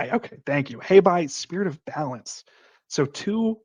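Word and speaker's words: Hei Bai: don't remember this name of this how to pronounce this spirit here. This is Okay, thank you. Habai, spirit of balance.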